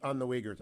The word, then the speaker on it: Uyghur: of Miami did not know anything about the Uyghurs. You're on the Select Committee on Engagement with the Chinese Communist Party. Mm-hmm. You've had hearings on the Uyghurs.